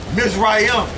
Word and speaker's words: Mizraim: Okay, Egypt's real name, how you say it in the really is Mizraim, is Matazayim, which means bondage. Okay, that's the real way you say Egypt.